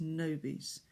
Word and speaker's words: nobis: Sometimes, very often I hear nobis, and even worse, nobis, but it's nobis.